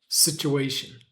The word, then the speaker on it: situation: Americans change the vowel sound in unstressed syllables of words to uh uh you can see my lips barely open. Uh uh ch. We just want the vowel sound to be as weak and short as possible.